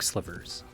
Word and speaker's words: slivers: way to farm dark slivers that's right i said slivers i'm embarrassed to admit i've been pronouncing it as silvers this entire time there are 15 new